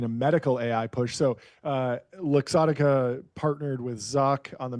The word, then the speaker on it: Luxottica: The Ray-Ban maker, how do you pronounce this? Essilor, I just know as It's Luxottica. Luxottica.